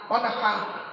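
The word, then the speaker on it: وَانْحَرْ: ওয়ানহার এই গলার ভেতর থেকে এটা উচ্চারণ হবে, ফাসাল্লি লিরাব্বিকা ওয়ানহার।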